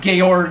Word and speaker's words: Georg: So yeah, his name actually has been pronounced Georg the whole time.